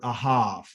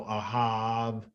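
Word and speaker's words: אהב: out of our word ahav okay remember there is no letter V in the Hebrew language this is a pronunciation it's really a b okay so Ahab okay out of this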